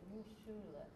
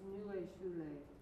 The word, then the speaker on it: neue Schule: They pronounce it new shule. I know, but it's neue Schule.